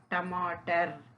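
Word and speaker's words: टमाटर: அப்போ ட டமாட்டர். அப்போ ட மா ட ர அப்படி ப்ரொனவுன்ஸ் பண்ணணும். அப்போ டமாட்டர்.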